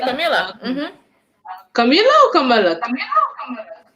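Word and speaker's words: Kamala: Camila. Yeah, you said it right. You said it right. Camila. Camilla or Camilla? Camila.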